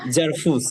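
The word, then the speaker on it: Servus: জারফুস হ্যাঁ দেয়ার ফুস কারণ হচ্ছে ভিকে আমরা কি উচ্চারণ করি কালকে আপনাদের হচ্ছে আলফাবেট ক্লাস হইতেছে না ফেল ফে ওই যে ফাউ তাইলে জারফুস জারফুস হ্যাঁ এইজন্য মুয়েন ময়েন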